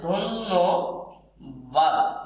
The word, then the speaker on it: ধন্যবাদ: তাহলে ধন্যবাদ এই হচ্ছে ধন্যবাদের সঠিক উচ্চারণ, ধন্যবাদ।